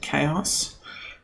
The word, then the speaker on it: KaOS: independent distro called k-a-o-swords I like to pronounce it chaos I guess is what it's called and what makes chaos